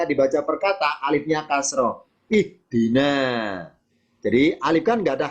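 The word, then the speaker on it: اهدِ: Nah, dalam kaidah bahasa di Al-Quran, ketika membaca alif di awal kata, tergantung huruf ketiga bunyi apa. Alif, ha, sama dal. Kalau ketiga kasroh, alifnya ikutan kasroh. Ihdi. Nah, itu bacanya. Dah.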